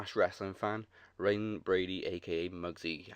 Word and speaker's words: Reyne: From Sydney, Australia, is rising hip-hop artist / wrestling fan, Reyne Brady, a.k.a. Mugzy. How you doing? What up, man? How you doing? That's crazy. Actually, you pronounced my actual real name, Reyne, correct.